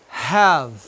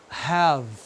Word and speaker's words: have: Aqui, have. Ó, have. Mesma coisa. A letra E não se pronuncia no final.